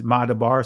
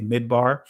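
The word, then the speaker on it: מדבר: It's Madabar. Some would say Midbar in the Israeli pronunciation of it, but Madabar.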